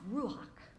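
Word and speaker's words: רוּחַ: It's pronounced ruach, and it's the Hebrew word for spirit or breath or wind.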